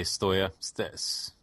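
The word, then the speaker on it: Steaua: He played a little bit against in a friendly against Stella Bucharest. Is that how you pronounce it? Yes, I just say Stoya.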